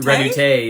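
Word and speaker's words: Redouté: I don't think I pronounce his name right. Do your best. Is it Joseph Pierre Redoute? Redoute, yep.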